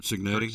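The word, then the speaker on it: Cignetti: Kurt Signetti.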